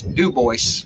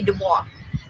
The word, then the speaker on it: Dubois: But in Wyoming, the town with that name is not Dubois, Wyoming. It's Dubois. Dubois, yeah. It's Dubois, Wyoming. Which it should be Dubois.